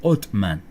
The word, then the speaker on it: Osman: Pronunciado Osman en ocasiones como Otman. En algunas regiones esa era la pronunciación, que se fue derivando en Ottoman, y de ahí entonces